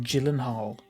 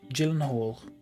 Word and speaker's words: Gyllenhaal: like a gyllenhaal um it's a soft g i never know what that means i'm gonna google it again more like hall oh okay i never know soft and hard letters someone did like soft c and hard c and i was like i don't know what that means so it's like gyllenhaal gyllenhaal gyllenhaal okay i always thought